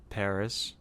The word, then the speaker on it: Paras: Paras. I've been working really hard not to say that. How do you pronounce it, SC? Paris, There you go.